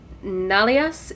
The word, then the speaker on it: Nalias: We'll look up to Nalias. That's how it's pronounced, right? It's been a minute. Correct.